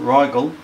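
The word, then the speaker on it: Rigel: the north okay so we say ryal pronounce it ryal serus Beetle geese pronounced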